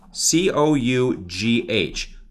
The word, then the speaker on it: cough: Look at the word cough, C-O-U-G-H, cough. So do you see L-I-G-H, C-O-U-G-H, the G-H can be pronounced like an F, cough.